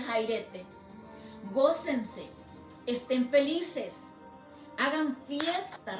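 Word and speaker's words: χαίρετε: La palabra gozao significa en el griego saipete y se pronuncia jairete.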